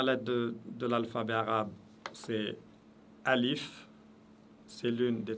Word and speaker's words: alif: Alif représente la voyelle ou le son A, et alif est toujours léger. On dit A, on ne dit pas A.